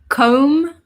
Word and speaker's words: comb: Z sound so scissors comb well so the B is silent so cold hair dye